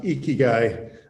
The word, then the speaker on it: Ikigai: It is, though, pronounced Ikigai. So I wanted to make sure the audience knows Ikigai Asset Management, and it's the Dev DAO, which